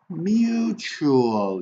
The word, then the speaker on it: mutual: Mutual. You see, the unstressed syllable is this one. So che. Mutual.